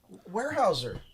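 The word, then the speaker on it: Weyerhaeuser: Warehouser.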